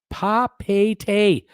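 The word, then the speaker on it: Papeete: Sylvan, Papa T pronounced Papete.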